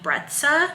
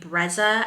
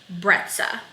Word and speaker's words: Brezza: things using our baby breta so in another video I saying baby Breza I heard I was like on their Instagram account it's called baby breta so I want to